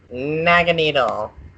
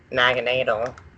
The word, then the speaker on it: Naganadel: Okay, without further ado, going back to 17, Naganadel, or Naganadel.